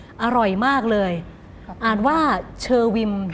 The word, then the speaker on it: เณอวิม: มาก เลย อ่าน ว่า เชอร์วิน อ่าน ว่า เชอร์วิน ค่ะ แปล ว่า ต้น ไม้